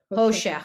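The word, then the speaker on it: חושך: con- So it's, how would you pronounce that, Irina? Oh, Hoshe. Hoshech, which is darkness.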